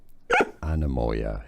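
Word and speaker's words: anemoia: Anamoya is how to pronounce it. Anamoa.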